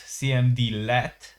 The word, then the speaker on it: cmdlet: Instead when a cmd let pronounced cmd let is run in powershell it returns objects that retain their properties and methods.